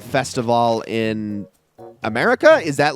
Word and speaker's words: Festivale: The reason I'm saying Festivale is because it's the same cadence and pronunciation for what this event is based on, which is Carnival.